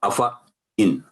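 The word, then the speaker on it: أَفَإِن: یہ دیکھیں افا، دیکھنے میں افا ہے لیکن کیونکہ الف زائدہ ہے تو افا ان، افا ان، افا ان، افا ان.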